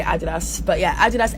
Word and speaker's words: Adidas: I know Americans say Adidas, I'm British, so I'm just gonna say Adidas, but yeah, Adidas x